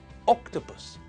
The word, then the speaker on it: octopus: which tells us that the stress in the word is on the first syllable. It's pronounced octopus, not octopus and not octopus.